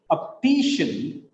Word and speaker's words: optician: Look at here, optician, optician. It is not optician, it is optician. Here, three syllables are there. Optician. It is shin, not shean. Shin. Optician. Optician. The last syllable is shin. The previous syllable is T. That is why it is stressed. Penultimate syllable is stressed.